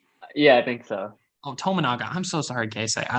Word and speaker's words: Tominaga: I did not say his name wrong. Say the last name. Tomanga. Is it Tominaga or something? Yeah, I think so. Oh, Tominaga.